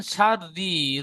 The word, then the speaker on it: شر: মিন শাররি, রটা টান হবে না, রসের রি।